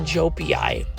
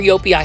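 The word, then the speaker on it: joepii: And look at this, they're bringing in the heat variegated philodendron jopii, or Yopii, however you want to pronounce it.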